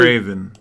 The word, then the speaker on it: Graven: Master Gotta really- Graven. Gotta really pull it to the back of the throat to really properly pronounce.